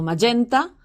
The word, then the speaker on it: Magenta: Pero la batalla de Magenta, o Magenta, si pronunciamos a la italiana, se peleó el 4